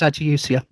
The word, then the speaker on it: ageusia: Uh, yeah, it's Adiusia.